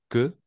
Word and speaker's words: queue: Français font souvent la queue vous comprenez font souvent la queue on va prononcer que d'accord oui c'est bizarre